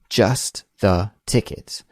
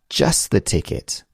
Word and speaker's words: just the ticket: say it like that why do we delete that t sound in just when we say it quickly and we switch just